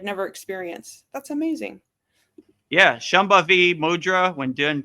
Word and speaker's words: Shambhavi Mudra: When I got initiated into Shambhava Maha Mudra, I had a wonderful, how do you say that, Vedagurudev? Shambhavi Mudra, right?